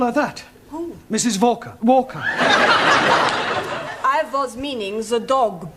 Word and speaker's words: Walker: Walker Walker what w is pronounced what your employer's name is Walker yeah volker do you know how many shots mrs.